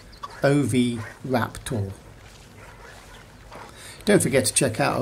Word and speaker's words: Oviraptor: dinosaur names to say it has four syllables and you say it like this OV wrap tool don't forget to check